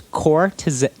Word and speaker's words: Cortese: Okay, or so it's Cortese.